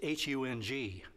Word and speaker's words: Hung: My name was, and this is somewhat embarrassing, I think, was H-U-N-G. Hung, they pronounced it.